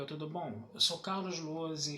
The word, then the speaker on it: Lohse: E o meu canal no YouTube é Carlos Lose. Lose se escreve Lohse e é com Z.